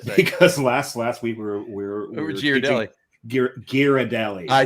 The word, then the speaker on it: Ghirardelli: It's not Ghirardelli because you don't say spaghetti. The H makes the G a hard.